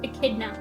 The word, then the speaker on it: echidna: Okay, so it is pronounced echidna.